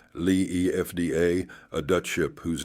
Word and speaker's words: Liefde: The Lift, pronounced Lee EFDA, a Dutch ship whose name means love.